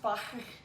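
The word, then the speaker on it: Fage: I think it's pronounced Fire. The G is silent, so it's like you're in German, you know, you've had too much milk. You have to pronounce it like that.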